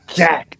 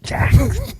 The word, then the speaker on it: Jax: Say Nia Jax. Jax. Not Jack. Not Jack. It's Jax. Jax.